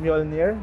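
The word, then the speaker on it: Mjölnir: Mjolnir, do you call it Mjolnir? Yes. Hammer of Thor. Hammer of I will not attempt to pronounce the Swedish line, but this is Hammer of Thor LED headlamp.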